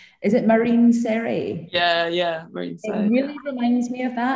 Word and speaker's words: Marine Serre: I always get this brand name pronounced wrong because I'm Scottish. Is it Marine Serre? Yeah, Marine Serre.